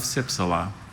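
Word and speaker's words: cypsela: There is a schwa in this word. That sound in the middle syllable trips up a lot of spellers. Can be any vowel in the alphabet, depending on the word.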